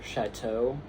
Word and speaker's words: chateau: Now, I don't really know how the EAU in chateau is like a vestigial letter, except that like an EAU wouldn't be pronounced O. So actually, yeah, that makes sense.